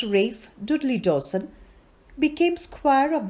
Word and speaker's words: Ralph: war by jeffrey archer ralph pronounced rafe dudley dawson became squire